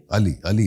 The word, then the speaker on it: Alyy: से स्पेल हुआ, लेकिन प्रोनाउंसिएशन अली कहलाएगी या अले? अली very much अली।